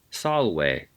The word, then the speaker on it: salve: Salve, quid tibi est nomen? Yes, it's a good reminder that the V is not pronounced as a V but as a W.